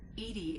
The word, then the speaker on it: EDI: reminding me the airlock is a jar named edi is the phonetic pronunciation of edi that is an acronym for